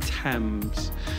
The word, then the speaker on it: Thames: but this is actually you get rid of the h it's just pronounced thames so that's that's one